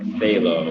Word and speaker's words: phthalo: read that all right the ph is silent it's just like phthalo like faith like they love halo i i'm not uh